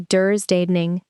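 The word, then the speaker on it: dödstädning: And there's a Swedish word, pronounced roughly "dursdaning," that means literally death cleaning, and it explains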